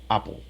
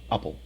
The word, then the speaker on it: apple: just one p sound the second syllable is unstressed and it's just like the dark l oh oh apple for the stress bubble